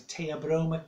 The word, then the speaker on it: Theobroma: Now, the scientific name for raw cacao is Theobroma cacao. It's spelled Theo as in Theo, Broma, cacao. Theobroma in Greek means food of the gods.